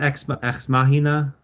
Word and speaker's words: Ex Machina: yeah, is it Ex Machina, Ex Machina, Yeah, X.